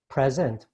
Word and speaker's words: present: Word stress. Present or present. For example, this is a beautiful present, but this woman is presenting. This is a verb, to present.